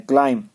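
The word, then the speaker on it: climb: बी में जैसे क्लाइम में बी को साइलेंट करना है, क्लाइम।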